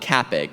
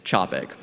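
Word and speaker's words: Čapek: It's called a charon. It's a diacritical mark that tells you to pronounce that first letter like the CH in chocolate. So it's not Capik, it's Chopik. And to make sure I'm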